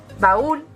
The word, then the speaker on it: baúl: Por lo tanto, si nos encontramos con la palabra baúl, esta sería al final baúl, es decir, baúl la separaríamos en 2 sílabas, porque los hiatos siempre van separados.